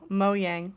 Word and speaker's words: Mojang: No, but how do you pronounce the developer of Minecraft? Oh, Mo Yang. You say Yang, okay, because obviously in 2011 when it first came out, I'm pretty sure I was saying Mojang, but why not?